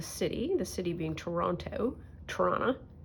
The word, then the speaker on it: Toronto: Toronto, which is how you say it if you're from here.